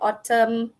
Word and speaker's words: autumn: psychology okay and then we have silent and Autumn column and Silent L salmon okay so like